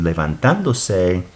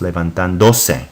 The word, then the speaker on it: levantándose: So it's pronounced, as you see it here in the book, is levantándose. If you didn't have an accent, it would be pronounced levantándose, and that is not correct.